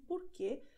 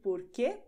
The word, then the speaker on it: por quê: Porque, porque, you pronounce it the same way, and both have the meaning of why.